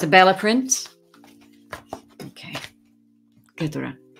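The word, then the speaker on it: Keturah: K-E-T-U-R-A-H.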